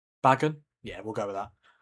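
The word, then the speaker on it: Bagan: Here's Banan or Bagen, however you say however you say his name. Yeah, it's Bag and then a N. Yeah, B A G A N. Bagen.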